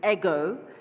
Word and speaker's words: Eg: personally and you know my name is spelled EG it's ego uh but I didn't